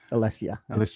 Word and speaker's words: Alessia: I was looking at Alicia Cara, but okay. Alessia. Sorry. It's not Alicia. Sorry. It's spelled differently.